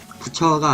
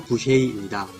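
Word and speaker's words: Boucher: 부처가 아니라 부쉐이입니다. 참고로 부쉐이 선수는 캐나다 퀘벡주 출신이기 때문에 불어식으로 이름을 읽어서 크리스 부쉐이라고 했습니다.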